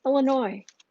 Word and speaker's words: Illinois: It's not Illinois. It's like there's Kansas and there's Arkansas. There isn't Kansas and Arkansas. And it's Kansas, it's Arkansas, and it's Illinois. No S. S is silent.